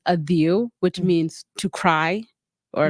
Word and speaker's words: Adhieu: before I was born so my name is pronounce adiu which means to cry or like to yeah